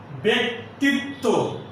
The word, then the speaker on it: ব্যক্তিত্ব: একইভাবে ব্যতীত, ব্যক্তিত্ব ইত্যাদি শব্দে যে জফল আছে তার উচ্চারণ হবে এ এর মতো।